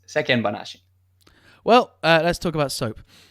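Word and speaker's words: 世間話: This is a tough pronunciation issue in Japanese for a lot of foreigners, but there's no chichaitsu. There's no glottal stop there. It's sekken banashi.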